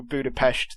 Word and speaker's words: Budapest: into a backstory with the whole budapest or budapest thing as they pronounce it in this movie i think i think